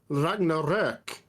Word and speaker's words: Ragnarök: They spelled it in the Swedish matter. Okay, in this matter, it's pronounced Ragnarök. Okay.